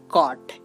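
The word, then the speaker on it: chord: সব লেটার গুলোকে রেখেছি সি এইচ এর উচ্চারণ হবে ক যেমন সি এইচ ও আর ডি এটা কিন্তু চট না এটা হবে কট এর অর্থ হচ্ছে জ্যা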